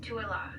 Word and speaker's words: Tooele: The name of the town is pronounced Tuala.